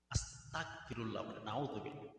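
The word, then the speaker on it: أستغفر الله: করেন আস্তাগফিরুল্লাহ আস্তাগফিরুল্লাহ আস্তাগফিরুল্লাহ দুঃখের বিষয় কি জানেন আমরা এমন আজিব মুসলমান আমরা এমন প্রাণী এমন এক জাতি যেস্তাগফার শুদ্ধ করে উচ্চারণ করতে পারে অনেক মুসলমান আস্তাগফিরুল্লাহ আস্তাগফিরুল্লাহ আস্তাগফিরুল্লাহ এভাবে উচ্চারণ আস্তাগফিরুল্লাহ উচ্চারণ আস্তাগফিরুল্লাহ আস্তাগফিরুল্লাহ আস্তাগফিরুল্লাহ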